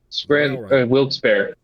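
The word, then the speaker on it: Wilkes-Barre: Um, Scranton Wilsbar. Is that how you pronounce them? Wils Bear.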